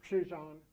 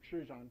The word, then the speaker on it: Krzyżan: My grandmother, Frances Krzyżan, that's how you say her name, Krzyżan, try that.